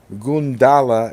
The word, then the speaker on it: Gundala: Malik says graphic vandalism the hero's name is pronounced gundala and taken from a from a Java word goon dolo which means lightning awesome awesome well I